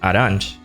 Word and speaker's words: Arantes: And though his name is pronounced Arantes, the pronunciation of Samus's surname is confirmed to be Aran.